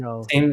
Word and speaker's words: Arundel: I don't know how to pronounce it. I had to look it up. Arindo. Yes, Arundel. yes.